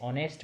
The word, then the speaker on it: honest: woodcutter देखिए यहां पर इसको हम हो नेक्स्ट नहीं बोलेंगे हम शुरुआत करेंगे और उसे कहां से शुरुआत करेंगे पढ़ने की ओर से वो next9 News बोलेंगे एक हमारा साइलेंट रहेगा है ना तो दशांश ऑनेस्ट